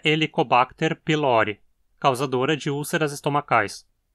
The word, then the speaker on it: pylori: hélice, e o epíteto pylori significa do pilouro, pois esse é o seu habitat natural. Pylori tem um O longo na penúltima sílaba, então tem que ser pronunciado como paroxítona.